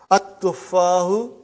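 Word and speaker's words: التُّفَّاحُ: See, there is no shadda anta. Dhamma is given. But now your mind knows that that is a sun letter. So you will pronounce as at-tuffahu. You will put a shadda anta. At-tuffahu.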